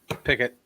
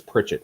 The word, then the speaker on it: Pickett: We were talking about quarterbacks: Malik Willis, Kenny Pickett. Yes, thank you. I keep mispronouncing it as Pritchett for some reason.